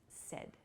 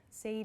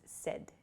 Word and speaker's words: said: So we use said.